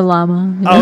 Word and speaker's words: Llama: I say that word llama it's just a llama okay I wasn't sure if because of the uh uh you know be being meta or not there was some like first say the L and then say llama branding or something yeah yeah okay but uh